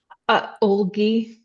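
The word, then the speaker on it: Ölgii: Nicole, how do you pronounce this? Olgi.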